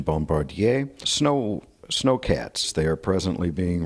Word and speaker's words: Bombardier: One of the original Bombardier, French pronunciation Bombardier, snowcats.